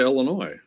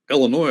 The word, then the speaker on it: Illinois: But you don't pronounce the S because the French, they use a lot of letters they don't pronounce.